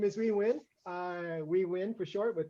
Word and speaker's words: Huy Nguyen: So my name is Huy Nguyen. Huy Nguyen for short, with the is the easy way to pronounce my name.